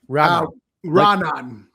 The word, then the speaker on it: Raanan: How do you say it? Raanan. Like Raanan sentence.